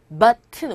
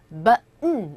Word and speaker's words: button: rotten 그 다음에 button 우리가 보통 단추할 때 버튼이라고 하잖아요. 외래어처럼 그죠? 외래어죠. 근데 이 버튼을 하고 원어민들은 발음을 안 하고요. button 이렇게 우리말로 굳이 쓰자면 button 이렇게 들려요. 그래서 button 왜 발음을 저렇게 할까?